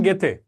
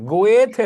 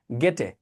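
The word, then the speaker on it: Goethe: জন Wolf von গেথে। এই উচ্চারণটা খেয়াল করেন, গেথে গেথে গেথে গেথে, গোয়েথে না কিন্তু, গেটে গেটে গেটে।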